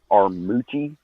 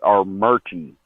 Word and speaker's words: Armuchee: If you say it how it's spelled, it's Armuchee. Aramuchi. But but everyone in the area calls it Armurchie. Like somehow there's an R in there that we don't know about.